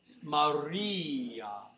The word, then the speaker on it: Maria: Maria. The re of Maria is the most important syllable.